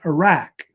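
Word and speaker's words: Uruk: one uh which is pronounced Iraq like the country Iraq of course is the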